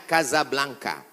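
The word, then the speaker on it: Casablanca: nama negaranya Maroko ibuotanya tulisannya Casa Blanca cara bacanya kazablanca Kaza artinya rumah Blanca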